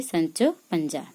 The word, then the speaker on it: Sancho Panza: Sancho Panza how to say the name say Sancho Panza require a sir a square a assistant to